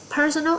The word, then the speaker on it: personal: Từ personal sẽ nhân âm tiết thứ nhất.